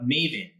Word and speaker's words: Mayvenn: So I'm the Chief Operating Officer of Maven. That's spelled Mayvenn.